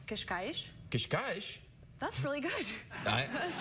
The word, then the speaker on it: Cascais: I grew up in a town called Cascais.